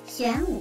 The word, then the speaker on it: Xuanwu: Nó được phát âm là Xuanwu, nhưng tôi sẽ sử dụng genbu trong bài đánh giá này.